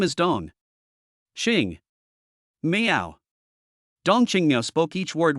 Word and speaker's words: Dong Qingmiao: But when she heard Suo call her Dongqinga, her face suddenly turned pale.